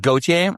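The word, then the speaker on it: Gotye: Gotier. Go. It's pronounced Goautier.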